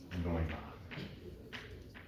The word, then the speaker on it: Neumann: And if I specify the normal derivative everywhere on S, it's called Neumann. That's how you say that. I never knew how you pronounce that.